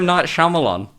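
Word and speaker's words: Night Shyamalan: say it wrong you're saying it wrong it's night shamalan maybe you're saying it right I'm saying it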